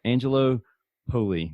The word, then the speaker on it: Angelo Poli: So on today's episode, we have Angelo Poli. Did I pronounce that correct?